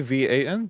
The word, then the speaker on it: Avan: Avan. Evan. Avan? Yes. It's Avon.